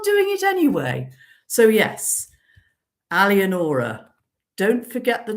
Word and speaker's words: Alienora: So yes, Alienora. Don't forget the name. It's only the 5 syllables, for goodness sake, Alienora. And don't say Alienora, or I may have to get nasty.